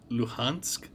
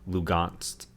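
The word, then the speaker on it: Lugansk: for some reason um in russian versus english we'll emphasize an h sound in our words when russians will emphasize a g so the russian pronunciation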